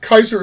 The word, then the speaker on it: Kaiser: to have it yeah now Kaiser so say is spelled the same way as a geyser uh but with a K but uh Kaiser